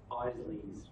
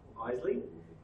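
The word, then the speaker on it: Eisele: So apparently I mispronounced Don Isley's second name incorrectly, so it's Isley.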